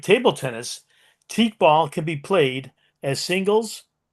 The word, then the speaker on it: Teqball: The name of the sport is teak ball, and I'll spell it for you: Teqball.